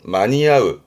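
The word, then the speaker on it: 間に合う: 발음은 마니야흐 봅니다.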